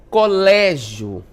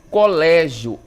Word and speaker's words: colégio: Passos enérgicos, olha só, colégio, Colégio, enérgico. Nós temos aí um som aberto, Diferente ali do bebê, que o som é fechado, colégio e enérgicos tem aí sons abertos, certo?